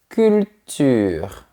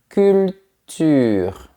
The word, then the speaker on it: culture: La culture. Bouche fermée deux fois et on entend la lettre L au milieu. culture.